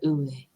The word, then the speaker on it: Uwe: Sometimes like people go heavy on the V and sometimes they don't. I'm just like, I like a nice in between the Uwe.